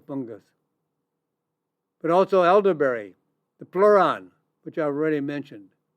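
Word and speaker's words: pleuran: There's another compound called Pleran. Spelled p l e u r a n. Pleran.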